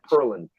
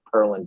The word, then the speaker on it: Pearland: Texas earlier today and I said Pearland and he totally pronounced it differently he didn't call me on it but it's like purlin I don't know how